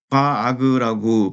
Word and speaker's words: vararg: 그래서요 VAR과 ARG만 따서네 바아그라고 발음하면 되는데요.